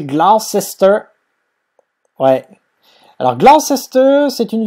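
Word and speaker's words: Gloucester: domicile je vais mettre l'équipe bis comme ça prononcer glester ouais alors glest c'est une ville du sud-ouest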